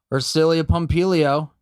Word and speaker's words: Ersilia Pompilio: Ersilia Pompilio. Tell me I pronounced your name correctly, please.